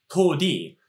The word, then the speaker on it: toudi: Karate, of course, is a modern pronunciation of what in the Okinawan language would have been pronounced to-di, a phrase which is